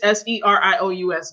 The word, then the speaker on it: Sirius: Sirius, Serious James.